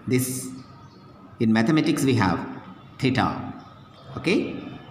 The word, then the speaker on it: theta: In mathematics we have theta, okay, how to pronounce that?